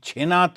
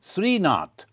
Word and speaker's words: শ্রীনাথ: ওটা ওই ছেনাথ বহুরূপী। ছেনাথ বলে শ্রীনাথ। তো গ্রামের উচ্চারণে ছেনাথ হয়ে গেছে।